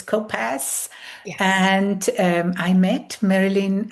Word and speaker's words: Kopasz: It's Kopasz, so it has Kopasz. like an S sound at the end. Okay, so it's Kopasz.